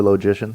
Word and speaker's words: logicians: logicians logicians logicians logicians but it's the word's logic and you're going to change to a long o for logicians whatever doesn't seem logical